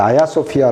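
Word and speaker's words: Ayasofya: 줘 이거를 이제 터키 말로는 타기 알을 지 발음하지 않고 아 아야 라고 걸러서 아야 소피아 라고 그칠 뿐입니다 특히 사람들의 그래서 처럼 교회의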